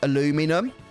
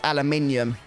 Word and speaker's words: aluminium: that americans i believe americans would pronounce that word as aluminum but in britain we pronounce it as aluminium and we actually do